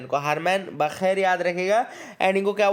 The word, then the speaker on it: Bacher: ये BACHER याद रखिएगा, बाखेर, इनको मैं बाखेर बोल रहा हूँ, बेचर बोल सकते हो आप, बस स्पेलिंग याद रखना। तो हरमन बाखेर बोल रहे हैं अपन, जर्मन नाम है इसलिए शायद बाखेर ही अपन प्रोनाउंशिएट करेंगे इसको, है ना।